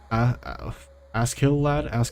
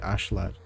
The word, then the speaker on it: Askeladd: was more so about Askeladd. I don't know how to say it in English. Askeladd. It's spelled Askeladd, but in the show they say Ashlad. But like with the Japanese pronunciation.